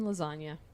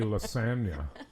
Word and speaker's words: lasagna: Well, because otherwise it would be lasagna. Lasagna. So you do kind of pronounce the G in a funky, weird way.